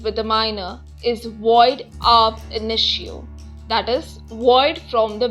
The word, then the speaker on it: ab initio: A contract or an agreement with a minor is void ab initio, that is, void from the beginning. Let us understand the pronunciation of the maxim.